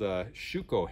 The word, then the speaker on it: shuko: These are called shuko hand claws, is how they were pronounced in Japan, and they were originally made out of iron, but these ones are made out of steel.